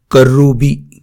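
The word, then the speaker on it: کرّوبی: الگ الفاظ گردانتے ہیں۔ عربی کا لفظ ہے کروبی۔ کروبی معنی ہے مقرب اور اعلیٰ درجے کا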